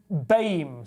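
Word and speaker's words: BAME: broadcasting corporation has banned the term baim certainly um pronounced as a single word rather than delivered as an acronym due to white nerves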